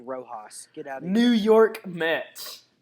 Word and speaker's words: Rojas: to um and coach of the year luis rojos new york mets hey it's pronounced rojas get out new york met okay first rule